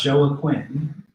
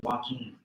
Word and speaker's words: Joaquin: Rock said to me, isn't your name Joaquin? And I said, no, it's not Joaquin. It's pronounced Joaquin.